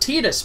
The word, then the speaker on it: Tidus: And Tidus is pronounced Tidus by the guy who plays him, which always